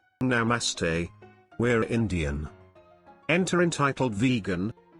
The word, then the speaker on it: namaste: speaking their own language she was pronouncing it completely wrong between gasps of breath my friend managed to say it's pronounced namaste at that the entitled